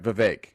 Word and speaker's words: Vivek: how to pronounce uh it's like the third option over vague oh that's right Vivek Vivek ramas thank you